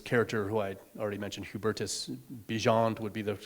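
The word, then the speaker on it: Hubertus Bigend: that there's this character who I already mentioned Hubertus beant would be the correct pronunciation but everyone calls him big end because that's how it's spelled um and generally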